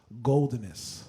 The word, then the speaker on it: Goldenous: And the word was Goldenness, right? It's spelled Goldenous. And I'm going to get you guys all out of your comfort zone right now, right?